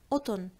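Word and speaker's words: قطن: And as you know, in Lebanese, mostly we do not pronounce the letter qa. So we do not say the qaf letter. We swap it for the glottal stop. So we say mesh, mesh, otun.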